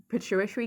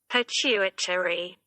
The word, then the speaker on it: pituitary: No, I'm saying tree, aren't I? It's not tree, it's turi.